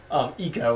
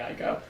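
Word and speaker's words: Ico: of the colossus fame eco excuse me I thing as the actual pronunciation I used to say I go um uh which he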